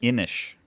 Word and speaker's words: Inis: no, I got to find like an Irish pronunciation website of how you say this word. Wait, how do you say it's it? Inish.